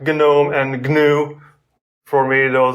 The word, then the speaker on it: GNOME: this sounds weird but in many other languages we never miss this g letter the sound from the beginning of these words like gnome and gnu for me